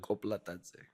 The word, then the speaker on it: Koplatadze: And your last name is Koplatadze. Yes. Is that the right pronunciation? Kind of. Close. What's Close. the right pronunciation? Koplatadze. Koplatadze. See. So it's like an accent in the middle.